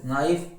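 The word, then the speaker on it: knife: night के शांत है, नाइफ के शांत है ना, नाइटिंग के शांत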